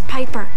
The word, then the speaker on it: Piper: change today amanda bynes the name's piper rhymes with viper and robin williams i'd